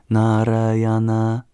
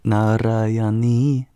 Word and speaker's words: Narayani: This one's a little long, but it is pronounced Om Kali Mahakali Kalike Parameshwari Sarvananda Kare Devi Narayana, sorry, Narayani Namostute.